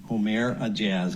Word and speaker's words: Ourmair Aejaz: a a a Jaz om a jazz I believe is the pronunciation 37-year-old Rochester Hills president